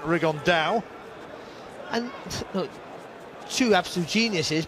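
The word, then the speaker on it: Rigondeaux: about fighting rigondo or as he's correctly pronounced with the uh spanish accent rig on dao and look two absolute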